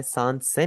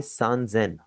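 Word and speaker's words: 三千: 3000 आपका थोड़ा सा चेंज हो जाएगा। आप इसे ससेन नहीं बोलेंगे। आप इसे बोलेंगे सजेन।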